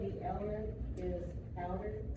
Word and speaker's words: LMNT: You said the element is powder? It's powder, yes, ma'am. How do you spell it again? LMNT. Yeah, it's kind of a weird name, right? It's like elements, right?